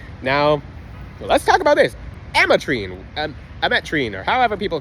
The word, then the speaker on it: ametrine: ametrine there we go I said it right ametrine something about ametrine literally takes their energy it